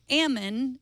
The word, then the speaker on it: Ammon: hey Idaho native here heard you struggling Friday pronounced Ammon it rhymes with Jamon or famine or B